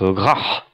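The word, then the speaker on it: ghaH: Garch. C'est comme ça? Oui, alors ça se prononce Grach. Grach.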